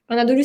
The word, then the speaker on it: Anadolu: Tu travailles pour la ligne éditoriale, en fait, tu travailles pour le journal, Anadolu, c'est ça? Je le prononce bien? Anadolu, c'est une agence de presse.